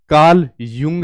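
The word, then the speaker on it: Carl Jung: देखिए, उनका नाम कार्ल जंग है। ठीक है? कार्ल जंग। लेकिन क्या करें, उच्चारण या लिखने का तरीका छात्रों के बीच इस बात को लेकर तनाव पैदा करता है कि असली नाम क्या है।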